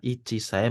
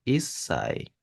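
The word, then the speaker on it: 一歳: satu itu dia Ici untuk menyebut umur 1 tahun itu bukan IAI melainkan dia isai pengecualian dia cara pengucapannya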